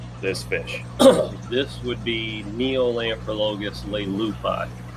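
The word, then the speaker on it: Neolamprologus leleupi: One right here, what is the proper way to pronounce this fish? This would be Neolamprologus lupi.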